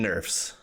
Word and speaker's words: Nerfs: Buffs, as in I'm buff, and Nerf, as in like the gun that shoots like foam bullets, right? Buffs and Nerfs.